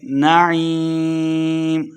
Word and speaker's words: نعیم: نعیم عین کو تلفظ سے پڑھنا ہے اور آخر پہ ہم نے وقف کا دینا ہے.